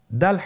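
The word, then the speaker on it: د: দাল হরফটি বারিক হরফ। এ হরফটি উচ্চারণ করার সময় আমরা অবশ্যই তিন আলিফ টেনে পড়ব।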